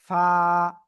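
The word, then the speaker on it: فاء: ঠোটের পেট তাও না নিচের ঠোটের পেট উপরের দুই দাতের আগার সাথে লাগাবো লাগিয়ে হালকা বাতাস বের করব বের করে এক আলিফটা নিয়ে উচ্চারণ করব ফা ওকে সবাই প্লিজ একসাথে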